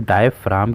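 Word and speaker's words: diaphragm: है कि इसको हम डायफ्राम क्यों पढ़ते हैं। ठीक है, यहाँ पे हमारा जो जी है वो हमारा साइलेंट होता है, इसलिए हम इसको डायफ्राम पढ़ते हैं।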